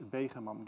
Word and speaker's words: Begeman: And this is known as I'll pronounce it in Dutch, a Begeman gate.